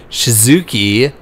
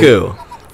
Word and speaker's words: Shizuku: A cute yet badass girl named Shizuki Tokikaze. You said it wrong again. I know, but it's because I can't pronounce this. That name is particularly... Shizuku. Just fine.